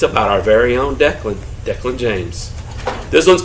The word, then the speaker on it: Declyn: My name is Declan. That's pronounced like Declan, but my mom liked a fancy Y instead of an A.